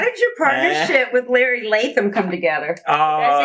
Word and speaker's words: Latham: How did your partnership with Larry Latham come together? Did I say his name right? Gosh, yeah, Larry Latham.